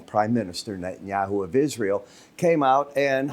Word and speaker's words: Netanyahu: Prime Minister Netanyahu of Israel came out and Hamus has been given a peace treaty also an ultimatum.